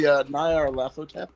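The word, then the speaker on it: Nyarlathotep: I think you're trying to say Nyar Lathotep.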